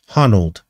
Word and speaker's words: Honnold: Honnold. Alex Honnold, spelled like that, is the name, the guy's name.